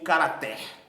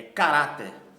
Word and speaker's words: caráter: Eu não pronuncio caráter, é caráter.